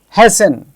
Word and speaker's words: hasten: The speciality of these words is that in all these words we have T written there. But when we are speaking, we are not pronouncing T.